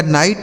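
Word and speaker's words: night: चलिए अगला शब्द है दोस्तों एन आई जी एच टी। एन से हो जाएगा दोस्तों नौ। इस आई का उच्चारण हमें आई कर देना है और जी एच टी से ट पढ़ना है। ठीक है? इसे पढ़ा जाएगा नाइट मतलब क्या होता है?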